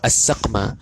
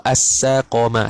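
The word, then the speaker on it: السَّقَم: Bi fathataini, Syekh Nawawi dia dhabit sikit cara baca. Takut baca as-saqama, takut baca as-saqma. Dia pun kata bi fathataini, dengan fathah kedua-duanya. Ai bi fathataini awwalaini, fathah kedua-duanya pada awal, iaitu as-saqama, saqa.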